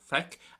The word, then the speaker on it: Feic: Well, firstly, Feic for C is pronounced as so, Feic, and it is an irregular verb, so we can't really base too much off the root.